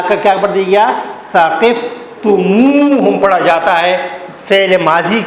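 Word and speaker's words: ثقفتموهم: ادا کرنے کے لیے ہم سے پہلے واو کا اضافہ کر دیتے ہیں اور اس کو پڑھتے ہیں ثقفتموہم۔ کیا پڑھتے ہیں؟ ثقفتموہم۔ اور یہ کام صرف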